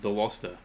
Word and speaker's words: Veloster: and Mafia some Boys World says, Veloster, it's pronounced the Loster.